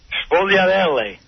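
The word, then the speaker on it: sfogliatelle: What Sviadel? Sfogliarelle. Yeah, that's what it is. Yeah. Sfogliarelle. Sviadel. All right, how do you pronounce Manicotti?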